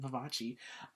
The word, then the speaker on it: Vivace: That's how you say it, Vivace.